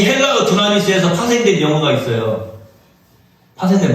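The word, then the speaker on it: δύναμις: 두나미스인데, 뒤나미스라고 발음해도 돼요.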